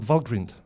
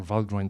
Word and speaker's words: Valgrind: You have very likely have heard about Valgrind, or Valgrind, depending how you pronounce it.